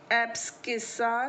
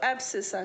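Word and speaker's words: abscissa: इसको हम इंग्लिश में एब्सकिसा कहते हैं। ये नाउन है, संज्ञा है, इसका प्रोनाउंसिएशन कुछ और भी हो सकता है। कुछ लोग इसको एब्सिसा कहते हैं, तो कुछ भी कह सकते हैं, ठीक है।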